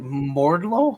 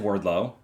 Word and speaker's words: Wardlow: say Mordlow? No, I said Wardlow. I heard Mordlow.